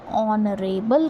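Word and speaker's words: honorable: जैसे कि ऑनरेबल नहीं कहेंगे। ऑनरेबल कहेंगे। एच हमारा साइलेंट हो जाएगा और प्रोनाउंसिएशन यहां से शुरू होगी और जब प्रोनाउंसिएशन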